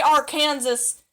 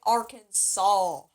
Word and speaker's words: Arkansas: i recommend you saying arkansas pretend there's no s in there just take the sl and if you say arkansas they're going to put